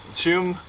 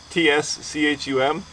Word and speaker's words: Tschum: Right here I have the Tschum, T-S-C-H-U-M. I think the T is silent, so I'm going to call it the Tschum two-person Sausa.